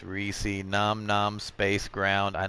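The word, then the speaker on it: Reisz: and then, yeah, if you read it the way it's spelled, Reese, it's Reese.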